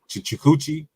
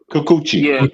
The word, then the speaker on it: Kikuchi: Is how you say his name? Chikuchi? Chikuchi? How You you say? say Kikuchi.